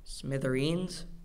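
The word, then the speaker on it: smithereens: and smashed into smithin the word is from Irish gelic there are no alternate pronunciations Smither smithin smithin s m i t h e r e e NS Smither that's correct henotheism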